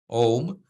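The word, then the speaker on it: ओम्: So if we look at the first shloka, Om, so in this case, that's where that M with the dot above it is pronounced as an M, right? Not as an N.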